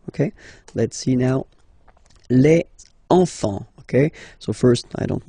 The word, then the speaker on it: enfants: Enfant. Don't pronounce the T, you don't pronounce the S. Enfant, okay?